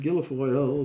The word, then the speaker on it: Guilfoyle: and Kimberly Guilfoyle, which rhymes with gargoyle.